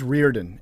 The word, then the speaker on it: Riordan: Blaze Reardon, and it's spelled Riordan, but it's Blaze.